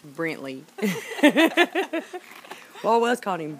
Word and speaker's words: Brantley: n t l e I knew it it's Brantley well I was calling him Brentley he didn't know about touching that at first